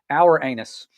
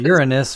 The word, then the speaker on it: Uranus: And I found out the other pronunciation for Uranus. Listen to this. This is kind of comical. Our anus. What in the world? I heard Uranus, which that's not much better. Uranus. Ourus. Yeah. Two different pronunciations. Both are bad.